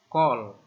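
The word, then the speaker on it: כָּל: Kaf ini K. Nah, kemudian ini ternyata ini bukan A ya. Ini Kametz Hatuf. Yaitu baca O. Kemudian ini lamet ya, L. Jadi bacanya kol. Kol itu artinya semua ya. Ini yang dimaksud Kametz Hatuf ya. Tanda seperti huruf T ini muncul pada suku kata tertutup. Itu adalah Kametz Hatuf. Bacanya O, jadi kol.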